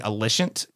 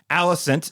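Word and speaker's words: Alicent: name we were saying alient I mean it does look like Aliant I will say but I digress Allison is how the characters in the show pronounce her name so it is Allison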